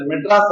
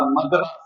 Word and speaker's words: மதராஸ்: பழகினால மெட்ராஸ் அப்படின்னு வச்சு, அது மெட்ராஸ் அல்ல, மதராஸ். மதராஸ் அது இங்கிலீஷ்ல எழுதுனா மெட்ராஸ் படிக்கப்படுகிறது, அவ்வளவுதான்.